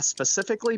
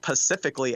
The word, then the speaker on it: specifically: But yeah, specifically being pronounced Pacifically.